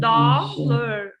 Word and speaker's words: dollar: The first part is strong. So the first word, do you remember the common spelling pattern of the letter O here? It's like father, father, father, and we have O and A.